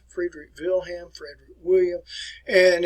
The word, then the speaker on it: Friedrich Wilhelm: easy name to remember i'm going to pronounce it in german for you friedrich wilhelm friedrich wilhelm frederick williams and it's